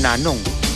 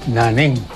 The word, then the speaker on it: Nanong: mula sa Chico River some people change the name nanong alphabetical pronunciation Come again they put it Naning Naning has a different meaning Naning means knowing nothing Neng but nanong means